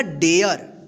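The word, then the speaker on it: dare: होगा शेयर डी ए आर ई क्या होगा डेयर ठीक एफ ए आर ई क्या होगा फेयर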